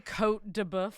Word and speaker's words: Côte de Boeuf: Dianes, and it's just like And so many Côte de Boeuf. How do you pronounce that?